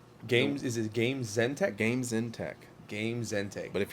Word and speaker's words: Game Zen Tech: Game Zen Tech.